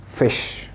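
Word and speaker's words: Fisch: ها انطقها لي. فيش.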